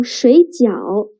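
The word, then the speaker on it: 水饺: Because what the foreigner actually said was, 我要睡觉. I want to sleep. Instead of, 我要水饺. I want some dumplings. 水饺 dumplings. 睡觉 sleep. They share the same initials, same finals, but different tones.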